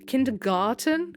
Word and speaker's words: Kindergarten: Kindergarten? Kindergarten, not garden. I always pronounce it garden, but that's like a garden. It's garten.